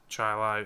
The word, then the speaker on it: Chili: It's pronounced Chili.